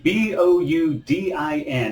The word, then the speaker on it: boudin: joining today's recipe grilled boudin what the heck is that i'll explain it all to you let's do this all right so grill boudin b-o-u-d-i-n it's a french word pronounced boudin it's very popular here